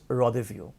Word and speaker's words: rendezvous: I repeat, the spelling is রেন্ডেস verse but the pronunciation is রদেভিউ। তোমরা যেমন French word জানো,